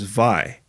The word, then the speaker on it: wai: Your featured Hawaiian word is vai, which is water. Vai is spelled W-A-I. In traditional Hawaiian, W's are pronounced as V's.